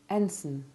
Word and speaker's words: ensign: Arraign, deign, feign, reign, foreign, sovereign, ensign. Diaphragm, phlegm, impugn. Note particularly the ivy sound of the letter I in ensign, which is often mispronounced.